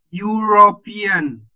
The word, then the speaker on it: European: Jadi European. Jadi pelafalan awal itu your.